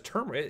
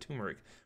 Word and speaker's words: turmeric: Oh, it's turmeric. Is it really turmeric? I didn't realize that. I always said turmeric for the longest time.